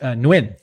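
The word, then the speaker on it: Nguyen: How do you pronounce it? I can never get it right. Nuin.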